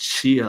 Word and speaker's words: Chia: It's pronounced Chia, like pet.